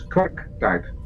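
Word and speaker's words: kwarktaart: Don't forget that in English the R is not very pronounced, but with us it is. So it's quack tart. Quack tart. So there's a definite R in there.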